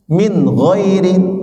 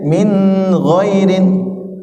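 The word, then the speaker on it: مِنْ غَيْرِ: ini huruf-huruf izhar Sebenarnya Pak ya Min ghairin tidak boleh Min girin ya Man amana tidak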